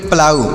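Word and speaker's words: plough: इस तरीके से ओ यू जी एच का उच्चारण होगा यू ऐसे लिखेंगे तो इसे लिखेंगे प्लाऊ इसे क्या पढ़ेंगे प्लाऊ लिखा जाएगा प्लाऊ पढ़ा जाएगा प्लाऊ मतलब क्या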